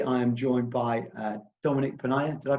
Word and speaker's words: Dominic Ponniah: alexander recruitment today i am joined by uh dominique pena did i pronounce that correctly dominique you did yeah dominique